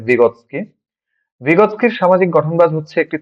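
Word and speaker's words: Vygotsky: সামাজিক গঠনবাদের প্রবক্তা রাশিয়ান মনোবিজ্ঞানী লেভ ভাইগটস্কি, বা রাশিয়ান উচ্চারণে লেভ ভিগোৎস্কি।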